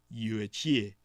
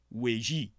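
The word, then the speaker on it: Yuezhi: the tribe of the yuichi in the pinyin the proper Mandarin pronunciation weiji it is here in the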